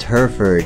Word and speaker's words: Hereford: the Heritage pronounced hereford in Canada and the United States is a